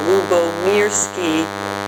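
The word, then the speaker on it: Lyubomirsky: I was actually pointing to the pronunciation key of my name that I have there, Lubomirsky.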